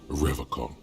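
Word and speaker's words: Revachol: stay strong forever call he pronounces rivercon with a hard K unlike other people oh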